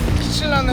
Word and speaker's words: Kitsilano: This is Kitsilano Beach where I love the most and I love this place so even this was on the song, "Turbulence". It's "Kitsilano" but I always pronounce this as, "Chikilano".